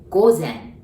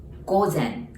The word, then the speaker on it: 午前: So AM, we say 午前. 午前. Like go, like let's go is go. And zen, as in the kom zen, 午前.